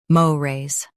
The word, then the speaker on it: mores: Stress mo and keep raise light. Mo. Raise, MORES.